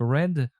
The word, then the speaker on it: read: Написание его никак не меняется, а произношение меняется. Вторая форма у него произносится как read, но видите, она пишется абсолютно так же.